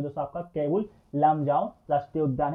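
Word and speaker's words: Keibul Lamjao: इसका सही उच्चारण है केबुल लामजाओ राष्ट्रीय उद्यान।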